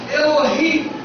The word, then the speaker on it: Elohim: Essa palavra Deus aqui, no versículo 1, lá no original, no hebraico, tem a pronúncia que nós entendemos que seja Elohim.